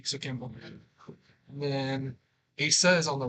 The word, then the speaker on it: Asa: And then Asa is on the right. It's ASA. And is his name, so it's Asa C.